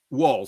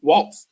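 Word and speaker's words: Walz: choice of wals is am I pronouncing his name right wal wal W Walt no no t w a l z wal okay wal okay I think it's a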